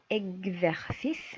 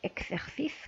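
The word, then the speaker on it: exercice: اكزرسيس ماشي اكسرسيس. كنقولوا اكزرسيس اللي هو الاكزرسيس تمرين.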